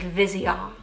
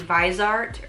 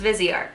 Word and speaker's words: Viseart: It's like Viseart. Viseart. It's like how you say it in French, because I thought it was like maybe Viseart or yeah, I didn't know. So it's Viseart.